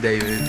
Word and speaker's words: D4VD: Hello, my name is David, pronounced David, not D4VD.